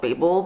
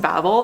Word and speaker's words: Babel: So I think I said initially that this was called Babel, but after reading it, I'm pretty sure it's pronounced Babel.